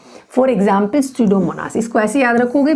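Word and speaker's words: Pseudomonas: For example स्यूडोमोनास, इसको ऐसे याद रखोगे, P फॉर स्यूडोमोनास, P फॉर साइक्रोफाइल्स, हालांकि P साइलेंट है इसमें।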